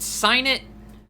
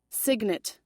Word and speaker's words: signet: last time played this is it sign it or is it like a sigma a type thing signet wrong the G is pronounced you show this to